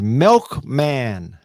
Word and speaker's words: Milkman: It is Milkman. So just like you think you would spell it, milk and man, somewhere back in her